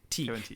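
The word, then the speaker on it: Tighe: Teague.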